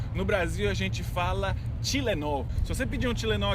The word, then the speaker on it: Tylenol: especialmente de Pernambuco, eles têm esse T igualzinho do americano, que é com um pouco de ar, né? Você tem que falar assim, com o nordestino, né? Como o nordestino de Pernambuco. Pernambucano sabe pronunciar Tylenol.